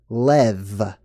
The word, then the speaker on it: Lev: Lee or Liu or in Czech Lev right very much like the word love and appropriately so in